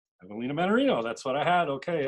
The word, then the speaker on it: Evelina Mannarino: So now, the correct pronunciation of your full name, just so I've got it right. Evelina Mannarino. Evelina Mannarino, that's what I had.